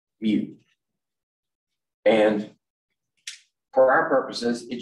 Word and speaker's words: mu: to this one that's the greek mu pronounced mu and for our purposes it just means 10 to the minus 6.